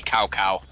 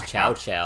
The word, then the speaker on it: Cao Cao: It took him like 4 entries before they got the right pronunciation. It used to be Cao Cao. Yeah. I thought it was Chow Chow. Yep. Forever. Cow Cow.